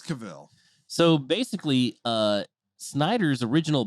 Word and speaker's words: Cavill: saying let's find out look up the cable pronunciation it's Cavill so basically uh Snyder's original plans were to